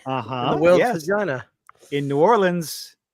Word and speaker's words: New Orleans: It's still technically 1 word, but it's New Orleans. It's not New Orleans.